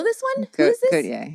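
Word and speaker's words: Gotye: Gautier, yeah. Gautier. Gautier. I think he's French like Jean-Paul Gaultier?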